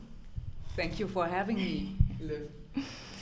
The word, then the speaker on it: Live: you for having me live or leave I have to pronounce leave yeah Lea Lea Lea that's